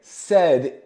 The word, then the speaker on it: said: a pal sadly again said is an irregular word that sounds like eh you can say said